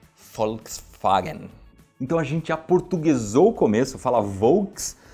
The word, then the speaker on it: Volkswagen: vem por exemplo Volkswagen quem que vai falar essa palavra em alemão original que é assim Fox Fagner então a gente aportuguesou